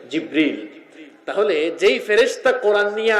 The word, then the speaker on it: জিব্রিল: আমরা অনেকে জিব্রাইল বলি, আসলে এই শব্দটির সঠিক উচ্চারণ হচ্ছে জিব্রিল। সঠিক উচ্চারণটা কি? জিব্রিল।